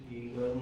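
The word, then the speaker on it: Geiger: गगर मासडन। ठीक है? अब आप बोलोगे सर आर तो है ही नहीं। बट वो वैसे ही प्रोनाउंस करते हैं।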